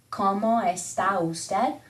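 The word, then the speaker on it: cómo está usted: again como estas and when you're speaking fast the o tends to mesh in with the e and the ah tends to mesh in with the como esta usted usted almost like you're saying or responses that somebody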